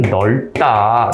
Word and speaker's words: 넓다: 라고 할 때 네, 넓다 이렇게 발음이 되는데, 예, 여기서 네, 요 부분에서 요것만 남았습니다. 뒤가 탈락한 거죠. 넓다 하는 부분에서 네, 요 부분이 앞이 발음이 되는 거죠. 그래서 여기가 자음군 단순화.